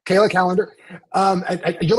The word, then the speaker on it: Kallander: Butch your last name calendar no you never butcher it that's how you say it you've always said it right Kayla calendar um you're like in